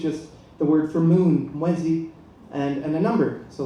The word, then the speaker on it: mwezi: And but the problem is, like, mwezi, I mispronounced it the first time. I said mwezi, and he said, no, that means thief.